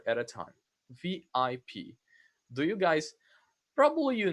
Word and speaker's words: VIP: Okay, so in English you say VIP. You pronounce it letter by letter, one at a time.